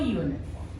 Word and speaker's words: uniform: here students now think U I told you u sound is a under umbrella okay but here you white sound so he is wearing a uniform is it clear is